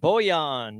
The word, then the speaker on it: Bojan: Bojan, yep. Well, the J is like a yeah.